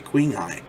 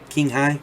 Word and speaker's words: Qinghai: i'm saying that right it's it's spelled q-i-n-g-h-a-i queen eye king hai king anyway it's chinese so the chinese pipes